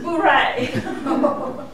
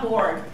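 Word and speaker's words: bourrée: Okay, so this is Bourée, not bored.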